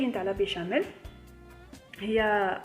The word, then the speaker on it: béchamel: béarn et je suis normalement ça se prononce comme ça béchamel parce que il détecte